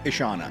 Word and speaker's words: Ishana: Night Shaman's daughter I think her name is pronounced isan isana isana yeah right correct yeah yeah um so I